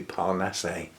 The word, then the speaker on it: Parnasse: So they've often got Frenchness, and I suspect that A-S-S-E is pronounced the French way, so that would be Parnasse.